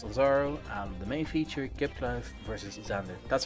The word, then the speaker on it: Kipkluif: We're looking for GDL at Mystic versus Lazaro, and the main feature, Kipkluif versus Xander. That's how you say his name, by the way, Kipkluif.